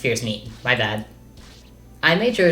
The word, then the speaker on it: Fierce Mien: Camilla chips Fuga, assisted by Heartseeker and Fierce Mien, which I've since been informed is actually pronounced Fierce Mien, my bad.